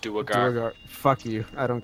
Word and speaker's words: Duergar: The party informs me that their mercenaries sent out to resolve a political dispute between the Drow, Druger, and elves and dwarves. Duergar. They're pronounced Duergar.